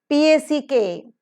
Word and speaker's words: pack: P-A-C-K, pack. Here P is aspirated because P occurs in the initial position of the accented syllable.